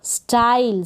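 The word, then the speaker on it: style: E का pronunciation नहीं होगा, E से पहले जो लेटर होगा उसका प्रोनाउंसिएशन थोड़ा लॉन्ग हो जाएगा, उच्चारण लंबा हो जाएगा। स्पेलिंग्स देखें। ST को स्ट, आई ल, स्टाइल।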